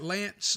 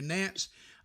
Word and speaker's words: Nance: know they they got Lance uh excuse me Nance I've mispronounced his name there Nance uh has been uh